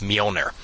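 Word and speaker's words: Mjölnir: Well, actually not not exactly silent. It does like a Y sound. So it's Mer.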